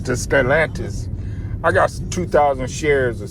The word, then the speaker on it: Stellantis: How you say it again? Stellantis. Stellantis.